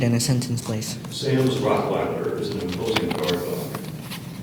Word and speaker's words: Rottweiler: Your word is Rottweiler. Rottweiler. Rottweiler. Are there any alternate pronunciations?